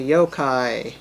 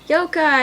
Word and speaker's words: yokai: and mashing together dragon yukai but spelled wrong it's actually yokai yokai and i even said it hey everyone